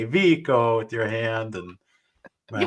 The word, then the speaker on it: Vico: So that's the big debate too, is his name is spelled Vico. Is it Vico? Is it Vico? We did enough research, Vico, and you tell us otherwise, but Karen and I found out that you prefer Vico.